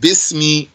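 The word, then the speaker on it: بِسْمِ: Sometimes you'd write this like this. You still pronounce it bismi, bismi rabbik.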